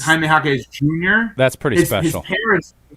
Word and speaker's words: Jaime Jaquez Jr.: And you get to call him Triple J, and one of the J's is silent, or two of the J's. Yeah, because it's Jaime Jaquez Jr.